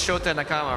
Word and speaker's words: Shota Nakama: I mean, in the Japanese language, like all the vowels sound just. There's only one sound for each vowel.